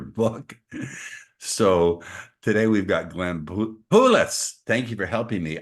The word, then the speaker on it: Poulos: So today we've got Glenn Poulos.